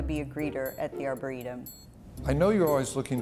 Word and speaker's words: arboretum: It's pronounced Arboretum.